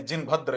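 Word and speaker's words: जिनभद्र: जिन गुप्ता, जिन गुप्ता, जिन भद्रा, यानी जिन भद्र इनको कहा जाता था। भद्रा में लिख रहा हूं लेकिन प्रोनंस, इनका जो प्रोनाउंसिएशन होगा इसका जिन भद्र होगा।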